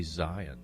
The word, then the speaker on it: Zion: Zion or Zion? I say Zion. Yeah, Zion. That's the way it's pronounced like when we preach and read it in the Bible. It's like Mount Zion.